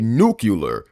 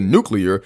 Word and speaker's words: nuclear: Naturally, Skipper calls it a nuclear reactor, and when Gloria tries to correct his pronunciation to nuclear, Skipper confidently doubles down on his own version.